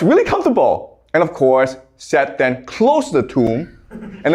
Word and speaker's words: Set: But his brother, Set, it's pronounced Seth, okay, but it's spelled Set.